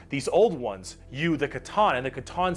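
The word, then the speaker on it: C'tan: These Star Gods, Catan, that's how you pronounce it. Ones, almost not C10.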